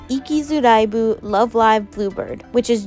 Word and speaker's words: Ikizuraibu: What's more interesting to me is that, although the main title is consistently pronounced Ikizuraibu, it has 2 completely different meanings depending on which spelling they use.